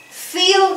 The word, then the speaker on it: feel: fall, fail, fit, fit, fit, fit, feel, felt, feel, felt. Cuando vean la doble E, se pronuncia un poquito más larga, ¿sí? Feel, felt.